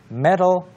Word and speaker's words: metal: It's like a D, metal. metal. Metal. Like medals in the Olympics. Yeah, the same way. 네. We pronounce it the same way. 맞아요. Right, even though it's with a T. 네. Metal, metal. 올림픽에서의 메달은 MEDAL이고 여기서의 금속은 T-A-L. 그렇죠. But it's pronounced the same.